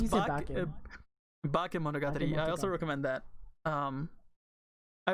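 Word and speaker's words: Bakemonogatari: What did I call it? Boko, or did I say bake? Because I think I said it wrong. Well, it's bake Monogatari.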